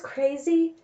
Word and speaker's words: CRZY: Well, it's spelled CRZY, but it's Crazy.